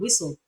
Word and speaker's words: whistle: end of that word but it's silent in the word whistle whistle not whistle whistle